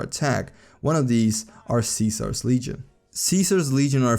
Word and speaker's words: Caesar: If they pronounce it with a C sound like in Caesar, they are against the Legion, but if they pronounce it with a K sound like in Kaiser, they are for the Legion.